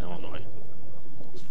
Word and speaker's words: Illinois: And the S is silent on Illinois.